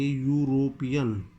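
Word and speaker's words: European: यूरोपियन, इसका pronunciation आप देखेंगे तो हम लिखेंगे यूरोपियन। क्या बोला जा रहा है, यूरोपियन। यह से शुरू हो रहा है, यह एक स्वर नहीं व्यंजन होता है अल्फ़ाबेट्स के अंदर। आप इसको वोवल्स से अलग ए या यू में से तो है, लेकिन इसकी जो आवाज़ है, जो प्रोनाउंसिएशन है, वो हमारा व्यंजन की तरह आ रहा है।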